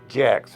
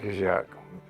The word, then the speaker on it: Jack: I'm going to pronounce it the way Jacks, not Jacques.